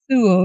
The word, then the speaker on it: Sewell: Sewell, yeah. I got it right. Great. As someone with a name that is not pronounced in English as it's spelt, I always